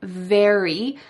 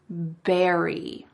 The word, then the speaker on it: very: Instead of saying very, I heard berry. He exchanged the V for the B sound.